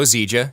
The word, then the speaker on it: Zieja: My name is Zieja. Yeah, it's pronounced just like zebra, except not really.